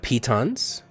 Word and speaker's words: piton: have wrote I have pitons by the way Camille that's how you pronounce piton it's you're gonna pee on it nope we have rope